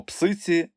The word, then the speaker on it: псиці: дати пояснення й тут слова пруські та міські мають наголос на останньому складі а слово псиці на першому Різдво 1896 року дівча